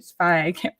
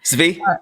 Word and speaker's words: Svi: Again, it was mostly Svi or Spy. How do you pronounce it? Svi.